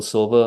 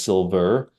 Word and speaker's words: Silva: from Rhode Island and people think that my last name is silver and I just don't pronounce my RS because I'm from Rhode Island but it's m i